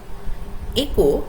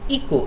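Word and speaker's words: echo: একো, একো এই শব্দটার উচ্চারণ আমি অনেক ছাত্রছাত্রীকে করতে শুনেছি ইকো এরম ভাবে। ইকো উচ্চারণ নয়, উচ্চারণ হচ্ছে একো, একো, ঠিক আছে?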